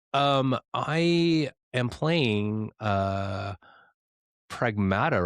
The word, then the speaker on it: Pragmata: Um I am playing uh Pragmata right now which actually I finished Pragmata last night. Pragmata. Pragmata. Is it Wait, is it Pragmata? Wait, Pragmata. Pragmata. It's Pragmata.